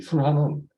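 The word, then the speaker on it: שֻׁלְחָן: 식탁은 히브리어로는 술한이라고 읽습니다. 술한. 이 술한은 왕의 식탁과 같이 하나님과 함께 교제하며 먹는 식탁을 의미합니다.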